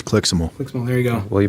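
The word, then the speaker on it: CLIXML: no cli xml correctly i'm with jordan it's clixable there you go well you better start pronouncing it squall query if you could you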